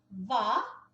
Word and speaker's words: hva: Então, uma dessas palavras perguntas que a gente pode usar primeiro é vá, vá.